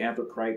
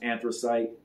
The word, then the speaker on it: Anthracite: And some people say Anthracite, but I think it's pronounced Anthracite.